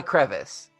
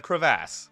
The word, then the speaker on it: crevasse: like oh geez uh it's not a crevice it is not a crevice it's a crevasse got it uh they